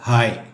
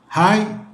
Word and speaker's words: hi: ഒരു ദിവസം ഒരു തവണയെങ്കിലും ഉപയോഗിക്കുന്ന ഒരു വാക്കാണ് ഹായ്. ചാറ്റ് ചെയ്യുമ്പോഴും മറ്റും പല സ്പെല്ലിങ് കാണാറുണ്ട്. HY, HAY, HAI. എന്നാൽ ഹായ് എന്ന വാക്കിൻ്റെ സ്പെല്ലിംഗ് HI ആണ്. HI ഈസ് ഹായ്, നോട്ട് ഹി.